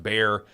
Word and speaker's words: Bexar: The winner is, at the very least, is unknowable based on the election fraud that we found in Bexar County, spelled Bexar but pronounced Bear, and then these other counties.